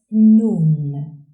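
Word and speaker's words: نون: The 25th letter is pronounced Nun and is written from right to left. Nun has one dot above. Nun, like in Nun.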